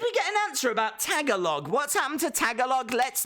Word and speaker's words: Tagalog: pulled there did we get an answer about Tagalog what's happened to Tagalog let's not let's oh